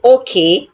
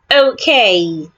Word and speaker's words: okay: So you can have words like okay. It's okay. Don't say okay, say okay.